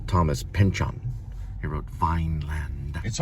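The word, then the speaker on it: Thomas Pynchon: Today we're listening to Vineland by Thomas Pinion.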